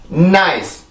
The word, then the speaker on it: nice: 이 발음 절대로 나이스, 은나이스, 은나이스 이렇게 쓰면 안 돼요.